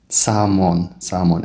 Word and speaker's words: salmon: isku day salmon elta waa silent.